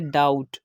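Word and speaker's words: doubt: Fourth example है डाउट। यहाँ पर भी हम देख सकते हैं कि बी से पहले यू है जो कि वॉवल है और बी के बाद टी आ गया, बी ने टी को फॉलो किया तो हमने यहाँ पर भी बी को साइलेंट करना है।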